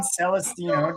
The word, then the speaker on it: Celestino: We have John Celestino. Did I pronounce that right?